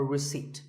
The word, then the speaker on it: receipt: in word number 24 receipt the P is silent when you purchase something or you pay a bill you get a receipt now if you don't